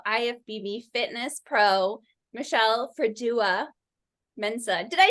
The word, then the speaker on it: Mensah: excited to have ifbb Fitness Pro Michelle fua Mena did I say it right yes you did